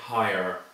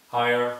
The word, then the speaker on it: higher: I'm Irish but also in other pronunciations there will be an or sound at the end so I say higher higher higher but you can